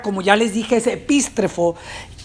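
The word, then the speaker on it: ἐπιστρέφω: A ver, lo pueden pronunciar conmigo, repitan, epístrefo.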